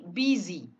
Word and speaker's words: busy: Nah, busy ya, tulisannya BUSY, tapi simbolnya menjadi seperti ini ya. Ini simbol pembacaannya, cara bacanya. Bacanya menjadi karena I-nya pendek semua ini, jadi busy. Ya, busy.